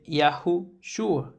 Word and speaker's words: Yahushua: Por eso cuando cuando pronunciamos el nombre del Mesías es Yahu Shua.